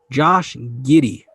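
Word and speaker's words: Josh Giddey: so the reports are linked to let me pronounce his name correctly the six eight point guard out of australia josh giddy uh that's the name that they're linked to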